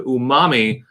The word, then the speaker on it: umami: Because you pronounce umami. Umami.